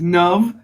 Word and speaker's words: Nav: i'm about sure uh my name is nub rhymes with love um yeah uh i'm